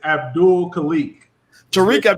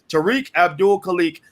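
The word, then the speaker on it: Tariq Abdul Khaliq: hear you right okay wow i mispronounced your name and didn't even remember the mispronunciation my bad brother tariq abdul kalik and also uh zakiyah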